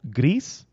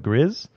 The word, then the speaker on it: Gris: switch it is called it's actually called grease but it's spelled a lot of people call it Grizz I actually bought it